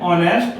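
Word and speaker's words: honest: नहीं है देखिए बच्चों यहां उच्चारण हम ऑनेस्ट कर रहे नेस्ट अ का उच्चारण किया जा रहा है ठीक है एक साइलेंट है ट मीन य एन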